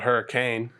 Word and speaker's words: Hurricane: It's spelled hurricane, but we call it Hurricane, being from the South.